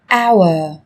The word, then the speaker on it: hour: Trong tiếng Anh cũng có một số từ mà cách viết chúng ta thấy xuất hiện chữ cái h, nhưng khi phát âm thì chúng ta lại không cần phải phát âm âm này, người ta còn gọi là âm h câm.